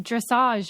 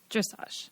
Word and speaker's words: dressage: you corrected me when I mispronounced dressage or whatever like dressage because I'd only ever read it and you were like dressage yeah and and you